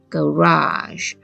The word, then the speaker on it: garage: 音，所以这个字会念 garage。